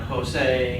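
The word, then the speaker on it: José: This is common in Spanish names like Jose or Julio, but it's pronounced like the H in Hussein.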